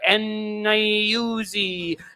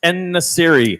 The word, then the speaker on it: En-Nesyri: Me, for example, saying, "Oh, that's striker En-Nayuzi," like not even being able to pronounce their names. It's En-Nesyri.